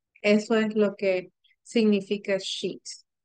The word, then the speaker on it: Scheat: Hay otra estrella que le quiero hablar que se llama Sheet. Se escribe Sheat.